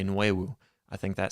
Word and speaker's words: Nwiwu: I believe Febechi Nwiwu, Wiwu was one of them. The N is silent, and I don't want to pronounce it with a silent N. I honestly want to say Nwewu.